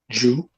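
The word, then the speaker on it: ḏw: DJW, and we got to put an E in the middle to pronounce it. So how you pronounce DJW? Jew.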